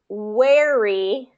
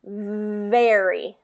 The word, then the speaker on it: very: So I'm hearing wary instead of very. So try that one again with that V, very.